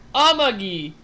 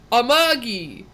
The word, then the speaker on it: Amagi: It's not Amagi, it's Amagi. It's not Inaba, it's Inaba.